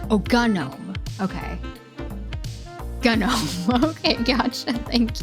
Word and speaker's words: GNOME: Technically hard g Oh, gnome.